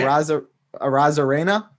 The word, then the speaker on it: Arozarena: Not even going to try and pronounce his last name, so I don't. Arozarena. Say Arozarena.